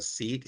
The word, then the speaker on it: SEADE: Try and have your seed. Say seed. Seed. Yeah. Say seed. Yeah. You know in some parts of the world the this the term is pronounced as seat.